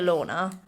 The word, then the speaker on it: Lautner: taylor lautner mug and do you know it's taylor lautner not taylor lautner oh we've been saying wrong all these years but no no he's been saying it wrong oh yeah it's taylor lorna do you know literally